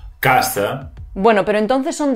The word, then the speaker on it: casa: Bueno, y en la siguiente, atentos a la S, porque una S es sonora y la otra es sorda. Casa. Casa. Casa.